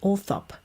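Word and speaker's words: Althorp: grounds orthop grounds it's it's orthop isn't it orthop is how the English pronounce it I think you can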